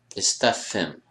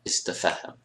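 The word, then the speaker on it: استفهم: And again, count the number of syllables you have. Istafhim, istafhim, not istafahim.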